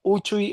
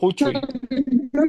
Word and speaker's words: uchuy: Pero la la correcta pronunciación sería Uchui en el trivocal y en el tenta vocal sería huchui.